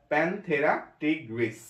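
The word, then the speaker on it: Panthera tigris: এরপরটা royal Bengal টাইগার, প্যানথেরা টিগ্রিস, প্যানথেরা টিগ্রিস, এই টি আই জি তিনটা ওয়ার্ডে একসাথে পড়তে হবে, মানুষ হোমো সেপিয়েন্স।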